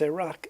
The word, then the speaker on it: Iraq: But a lot of it is like take the countries of Iran and Iraq, okay? there it's Iraq and Iran, but the I is pronounced like I, you know, like I, but it's not. The country is called Iran, and it's Iraq, and the Q is actually like a sound, Iraq.